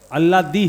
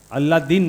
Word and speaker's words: अल्लादी: हाँ अल्लादी है, अल्लादीन नहीं है।